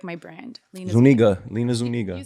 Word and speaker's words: Lina Zuniga: my instagram it's everywhere it's like my brand lena zuniga you said it right yes damn that [